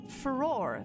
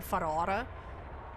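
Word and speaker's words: Farore: Ferrar, the goddess of courage. Some names I've been mispronounced since my childhood. And I'm Dutch, so I want to call her Ferrara.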